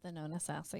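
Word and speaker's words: Thonotosassa: Thana sassa I think that's how you say it Thana Sasa yeah not sassa um just over past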